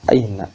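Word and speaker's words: أين: Kalau aina pakai ain itu artinya mata. Ya, ain itu artinya mata atau penyakit dan sebagainya, memang banyak ya maknanya. Cuma makna dasarnya adalah mata gitu. Nah, jadi pakai hamzah bacanya aina, aina artinya di mana?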